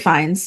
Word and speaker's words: Fiennes: It's Rafe Fiennes because Yeah. it rhymes with safe signs.